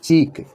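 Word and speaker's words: cheek: से शुरुआत की है क डबल आई के जिसका अर्थ है गाल इसे बोलेंगे चिक इसको क्या करेंगे चिक धृकीकर है पर अगर आपने बोला सिख के हो जाता है और चिक मिंस होता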